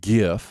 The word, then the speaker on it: GIF: since i've learned that gif must be pronounced with a hard g because it stands for graphic i've made it my